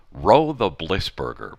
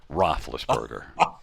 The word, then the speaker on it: Roethlisberger: the announcer in Ottawa called him Roe the Blissburger, but, Roethlisberger.